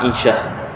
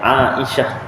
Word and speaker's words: Aisyah: Tu kan contoh sayidatuna Aisyah isteri Rasulullah namanya Aisyah orang Melayu sebut Aisyah Aisyah lagu pun Aisyah kan asal bahasa Arab Ain Alif di atas Hamzah dibawah e mana datang ainya Aisyah